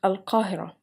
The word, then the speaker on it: Al-Qahirah: In Arabic words, the Q letter is not followed by U and pronounced like Qa, as Al-Qahira, I mean Cairo in English.